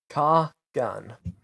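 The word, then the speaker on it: Kargaun: Pronounce it or spell? Both actually. Kargan.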